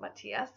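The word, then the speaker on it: Matias: This name is not pronounced that way, but if you spell it M-A-T-T-H-E-U-S, that is a Latin form of this name and it is pronounced Mateus, like I mentioned earlier.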